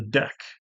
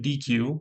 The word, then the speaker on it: deque: circular queue, is the deck. So the deck is special. I don't know why they pronounce it. It looks like DQ, but it's deck here.